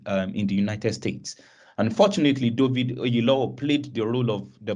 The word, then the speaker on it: Oyelowo: happens to be David Oyelowo, who is a British Nigerian actor, he emphasized that his name could be pronounced by adding an O either side of yellow, Oyelowo, Oyelowo, David Oyelowo.